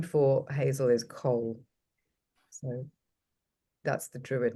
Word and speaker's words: Coll: And the name for hazel is Cole. So that's the druid name, Cole. Could you spell that, please?